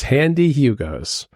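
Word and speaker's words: Handee Hugo's: And Handy is spelled HAN-DEE. So it's Handy Hugo's.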